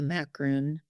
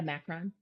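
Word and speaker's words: macaron: Whenever I see a macaroon, no, I'm saying it wrong. What are they called? The Macron.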